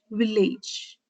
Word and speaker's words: village: From the city to my village, village. City, city also has two syllables, but you stress on the first syllable. Village, village has two syllables, you stress the second syllable.